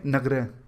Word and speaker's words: Nagara: सबसे पहले नगरह, जिसकी स्पेलिंग है NAGARA। कई जगह इसे नागर या फिर नगारा भी कह दिया जाता है। आप कुछ भी कह सकते हैं, हम इसे बोलेंगे नगरह।